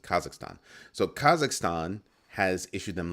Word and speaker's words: Kazakhstan: kazak what is it kazakistan yeah kazakistan kazakstan I'm not quite sure how to pronounce it the spelling throws me off so Kazakhstan that's how you do that's how you pronounce it Kazakhstan so Kazakhstan has issued